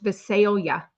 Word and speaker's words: Visalia: Mama Judy told me it's pronounced Visalia.